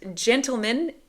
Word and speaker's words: gentlemen: pronunciation is correct gentleman instead of gentleman and gentlemen is the correct pronunciation why you may ask short answer why